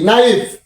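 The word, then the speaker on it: knife: N double E নি এন আই এফ ই নাইফ এই যে আমরা নাও বানান করলাম নট বানান করলাম নি বানান করলাম নাই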